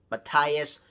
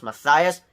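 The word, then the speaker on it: Matthias: some folks can sometimes get my name wrong from mathas when it's pronounced maias I'm fine with that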